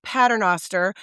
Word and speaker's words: Paternoster: It's exactly how it's spelled.